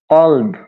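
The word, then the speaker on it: قلب: কালব, হ্যাঁ, এই যে কালব যদি দেন কাফ, কালব, কালব মানে হচ্ছে কুত্তা। তাহলে যদি আপনি কফের উপরে কা উচ্চারণ করিয়ে এভাবে বলেন, যদি কালব বলেন তাহলে সেটা হয়ে যাবে কুত্তা হয়ে যাবে। হ্যাঁ, কিন্তু মূলত সেটা হবে কলব।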